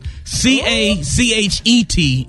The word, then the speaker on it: cachet: Syllable Marcille. Calm down. C-A-C-H-E-T is cachet.